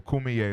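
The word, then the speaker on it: Kumeyaay: kume people uh it's k-u-m-e-y-a-a why e right I left out the E k-u-m-e-y-a-ay-y right left that out last time so kumiye is how it's pronounced right so the cumiere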